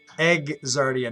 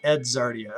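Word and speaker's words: Egzardia: i spell it wrong i put a d not a g all right i'll go back egg zardia not ed zardia okay and this one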